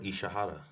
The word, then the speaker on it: Ishihara: How do you pronounce his name? Who? Ishira. Teruto Ishihara.